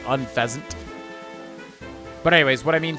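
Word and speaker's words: Unfezant: Point is, I don't know if unfasant, he pronounces it unfaszant, which is weird to me because it's like a pheasant, right? So, wouldn't it be like unfasant?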